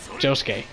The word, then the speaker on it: Josuke: Yeah, that's how you say his name. Josuke.